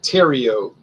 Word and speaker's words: Theriot: your name properly pronounced it's like Theriot Theriot like Cheerios ter you tell Cleo